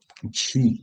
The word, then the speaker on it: Chi: H O et puis Chi ou Shi selon comment on le prononce C H I.